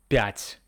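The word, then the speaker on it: пять: The next one is five. Pat sounds similar to pat.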